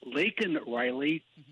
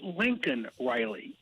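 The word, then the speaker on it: Laken Riley: of the United States referred to leak Riley as Lincoln Riley now did the pigy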